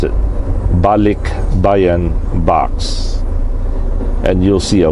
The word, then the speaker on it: Balikbayan: But for the most part, majority of the Filipinos that are around the world, they send this Balikbayan Box to the Philippines with clothes, candies, spam.